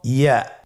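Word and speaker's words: ياء: ইয়া উচ্চারিত হয় জিহ্বার মধ্যখান তার বরাবর উপরে তালুর সঙ্গে লাগিয়ে উচ্চারিত হয়। আমরা জিহ্বার মধ্যখানটাকে উপরে তালুর সঙ্গে লাগিয়ে উচ্চারণ করি ইয়া।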